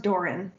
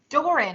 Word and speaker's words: Doran: you correct me yes it's pronounced doran doran i kept saying yeah